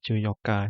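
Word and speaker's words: 十四日: Ini tulisannya 14 nichi gitu ya, tapi bacanya adalah juyoka. Nichi tidak dibaca ya.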